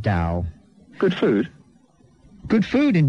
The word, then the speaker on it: Dao: it yes there's no it does but it's pronounced Dao good food good food